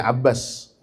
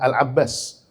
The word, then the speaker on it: Al-Abbas: Orang-orang nyebutnya Abbas, padahal dalam terminologi sirah nabawiyah nama beliau adalah Al-Abbas.